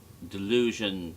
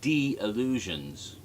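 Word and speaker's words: D'Illusions: were dangerous delusions um delusion is spelled d apostrophe illusion so it's not like delusion like you deluded uh it was like d illusions because it was a magic show um the latest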